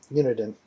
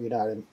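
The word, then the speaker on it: Uniden: by United unit or it's hard for me to pronounce it unidan not United unit in um all right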